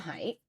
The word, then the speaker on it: Haidt: His name is pronounced Haidt, I found out.